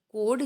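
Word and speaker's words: chord: circle अब कोड इसमें सी एओ आरडी कोड जिसमें एच साइलेंट है कोड अला लाइन सेगमेंट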